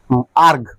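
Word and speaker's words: erg: ডাইন into centimetre একে বলা হচ্ছে কি আর্গ উচ্চারণ কি হবে আর্গ আর্ক মানে আর্গ মানে লিখতে পারি আমরা ই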